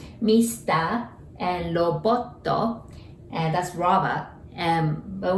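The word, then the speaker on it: ロボット: and robotto, and that's robot. But we say robotto in Japanese too.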